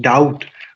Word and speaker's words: doubt: education okay like like d u BT so I think doubt we we we say doubt we we try to pronounce the that b okay uh so here the